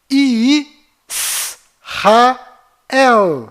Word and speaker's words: Israel: de cada letra então a pronúncia correta dessa palavra é ih rael e aqui está localizado